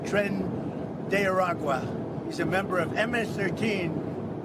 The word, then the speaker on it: Tren de Aragua: Tren de Aragua. Now I know how to pronounce it.